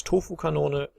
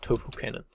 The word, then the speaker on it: Tofu-Kanone: German pronunciation is Tofu-Kanone, but if you want, you can just go with Tofu Cannon.